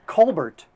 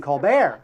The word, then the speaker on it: Colbert: Now, how about Stephen Colbert, who changed the pronunciation of his name to Stephen Colbert?